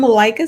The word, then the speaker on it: Malaika: and so on yes thank you i am melika that's uh that's as in i like